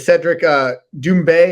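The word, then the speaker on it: Cédric Doumbé: And we've talked about, headlining it, or the more known fighter, or but less experience, is the Cedric Doumbe. Am I pronouncing that correctly?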